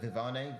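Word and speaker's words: Viviane: In our last fight with Vivian, or was it Vivane? Vivane, I think that's how it's pronounced. It looked as though Ribas actually wanted to showcase her striking, even though it was Vivane who was Viviani. I think it's Viviani. It is Viviani.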